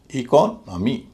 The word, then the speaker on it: economy: इस तरह पूरे शब्द का उच्चारण होगा इकोनॉमी, इकोनॉमी, हल्का भारी, हल्का भारी।